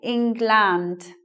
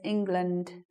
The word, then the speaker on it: England: become a schwa so what some people do is they'll say the words a good example is this word they'll say England but actually it sounds like this England so the the vow